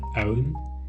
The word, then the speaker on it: pwn: this ownable k um by the way I pronounce this pwm as own cuz uh not pwn Cu uh it was